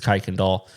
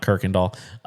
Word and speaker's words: Kuykendall: Yes, it's Kuykendall, not Kirkendall. It is spelled the same, but it's JJ Kuykendall with Cruise Planners.